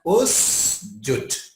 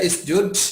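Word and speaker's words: اسجد: Kenapa tidak isjud? Ya huruf tengahnya u sih. Ya. Jadi kalau huruf tengahnya u, maka nanti alifnya dibaca u. Huruf tengahnya a atau i, alifnya dibaca i.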